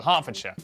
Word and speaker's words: Hertfordshire: Southwark, ER is pronounced R. Berkshire, Clerkenwell, Hertfordshire.